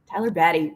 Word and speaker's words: Tyler Batty: Is it pronounced Tyler Batty? Yes. Tyler Batty.